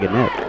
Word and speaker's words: Gannett: Gannett. Is it Gannett? Okay. Yes. Wasn't sure if the GN was like lasagna, like the GN in lasagna, like nip, but it's not.